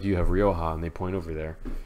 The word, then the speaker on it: Rioja: get a bottle of Rioja RI o JH Rioja you can say it the J's pronounced like an H you're good and then you have stored like you have Rioja and they point over